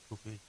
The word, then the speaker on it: kufi: That's the way it's pronounced, kufi.